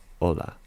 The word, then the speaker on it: hola: Now, you can see it's spelled H O L A. Now, that's one thing you want to be careful with. Um, in terms of Spanish, the H is always going to be a silent.